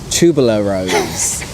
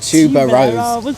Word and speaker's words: tuberose: me that it was meant to be pronounced tubular rose not tuba rose so now i try